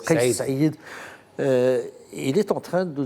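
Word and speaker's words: Kaïs Saïed: On le prononce, c'est Saïd. Kais Saïd.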